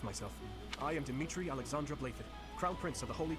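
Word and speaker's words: Blaiddyd: I am Dimitri Alexandra Blathid, Crown Prince of the Holy Kingdom of Fargus. Blathid? That's Blathid. Not Blathid.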